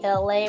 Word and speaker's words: Elay: It's me, Elay, pronounced like LA, like the city.